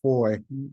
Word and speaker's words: Fahie: They can also find me on LinkedIn, Facebook, Instagram, just my name, pronounced Foy, and you did awesome. Thank you. It looks like Fahie, but it's pronounced Foy, from St.